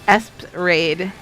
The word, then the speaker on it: Esprade: Game Boy says the pronunciation of Esprade is in the attract mode. If I recall correctly, it's Espade. It is.